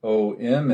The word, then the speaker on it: Om: The sound is Om, and as we talked about before, Om is not just O-M, it's Ah, U, M, and then the last syllable is that silence.